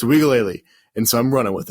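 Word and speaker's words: Uiagalelei: wigaly playing really well i found out it's pronounced wigaly which is weird right wigally leo i'm glad you said that because i was just gonna call him dj yeah dj i think it's wikilea don't don't roast me if it's not but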